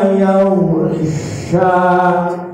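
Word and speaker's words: يغشى: Itu yang terpenting mendengar bunyi sya, keluarnya di tengah lidah, bukan sa. Kalau sa salah huruf, ini sya, shishu. Nah, ketemu di sini. Wal-laili idza yaghsha. Jangan yang sa gitu ya, biar nggak salah huruf, Pak Guru maksudnya.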